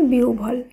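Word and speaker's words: বিহ্বল: একইভাবে বয়সী হয় বয় ল এর উচ্চারণ হবে বিউভল। কারণ এখানে আমাদের মনে রাখতে হবে হয় বয়ের আগে যদি হ্রস্ব ইকার থাকে তখন হয় বয়ের উচ্চারণ আবার হ্রস্ব ভ এইভাবে করতে হবে।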